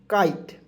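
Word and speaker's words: kite: अब देखेंगे कि ITE से दोस्तों के से क लिखेंगे, और जब भी ITE आएगा अंतिम में उसका उच्चारण होता है आइट के रूप में, इसे जोड़ेंगे काइट।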